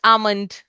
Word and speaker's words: almond: Almond. Okay. Now here L is not pronounced. Yes. Amund.